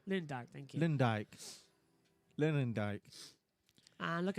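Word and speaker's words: Arie Luyendyk: is also home to two-time Indy 500 winner, Ari Ludwig. I hope I've got that right. Megan is going to have a go at me later if I've pronounced that right. Lewandijk, thank you.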